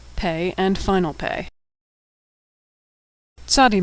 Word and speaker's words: Tzadi: Tzadi makes a TS sound like at the end of the word pants or nuts. Tzadi has a special final form, tzadi, and final tzadi.